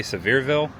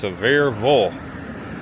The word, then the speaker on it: Sevierville: I say Seirville, but I think it's Severeville, just kind of like uh Louisville in Louisville.